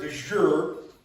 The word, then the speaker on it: de jure: For those that may not know, the word de jure, did I say that right? You said it right.